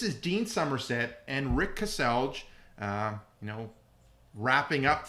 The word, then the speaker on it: Kaselj: you say your name it's Cassel Rick Cassel that's the English way of saying it Cassel one syllable just you see all the letters Cassel that's not one syllable Cel that's not one syllable that's two Cel okay two syllables okay I learned something